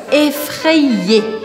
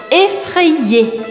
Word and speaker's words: effrayé: Eu faço a matemática das letras juntando o A com o suposto primeiro I, então effré, e eu pronuncio o segundo I, ou seja, que eu falo effré-i-e, effrayé, effrayé.